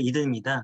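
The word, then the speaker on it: Eden: 저희 새싹이든 브랜드는 새싹이 들어있다는 의미도 있지만 그 이든이 미국식 발음으로 LN이라는 게 LN 동산을 말하는 게 미국식 발음으로 이든입니다.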